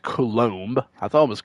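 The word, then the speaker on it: Coulombe: Yeah, I think it's pronounced Colom. I thought it was Colomb or you know pretty sure it's pronounced Colom.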